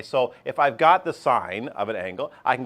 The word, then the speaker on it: sine: CSC is one over sign you're used to calling it sign not sin especially not at our